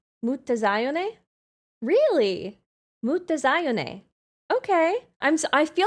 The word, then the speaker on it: Mutazione: It's basically Italian. Ma zion. Ma zion. Really? Mut zone.